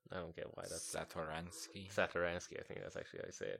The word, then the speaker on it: Satoransky: I don't get why that's Satoransky.